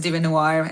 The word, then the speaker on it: DieveNoire: Did I pronounce it okay? Because no worries. It's Lariyah, and the band's name is DieveNoire.